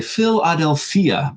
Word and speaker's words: Philadelphia: going to head to Philadelphia or I guess I should say Philadelphia to get the the the first century Greek pronunciation right this is another place